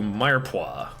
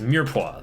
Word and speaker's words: mirepoix: our cut this x to Mayer pois or sorry it's mirepoix that's how you say it oh yeah these chords